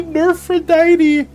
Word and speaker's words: Nerphrodite: You could say Nephrodite, you could say Nerphrodite. It's supposed to be Nerphrodite. And I said Nephrodite this whole time.